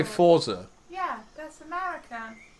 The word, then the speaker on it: Forza: Forza. That's the proper way to say it. Forza. That's the American way. Forza, there's no T in Forza, so why would you get the...